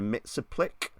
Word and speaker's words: Mxyzptlk: and please God help me, Johnny, am I pronouncing this correctly? Oh no, this is Mr. Mxyzptlk.